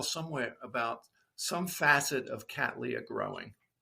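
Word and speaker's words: Cattleya: Well, there's a lot of ways to say it, but Cat Leah, it's named after William Catly who first found them. So, we just, you know, support his name by saying Cat Leah.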